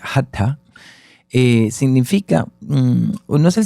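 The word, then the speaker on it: hatha: hatta la palabra hatta se escribe h a t h a se pronuncia hatta eh significa no es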